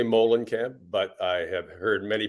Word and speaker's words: Moehlenkamp: how do you say your name I say Molen camp but I have heard many people say and camp or Moulin Camp um I think either way it's as confusing